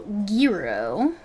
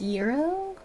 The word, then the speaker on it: Gro: Corporal Gro. It's actually pronounced Yurro.